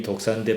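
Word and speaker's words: δόξα: 헬라 말로 독사입니다. 그 우리 뱀에 독 있는 뱀이 독사인데 발음이 똑같아요. 독사.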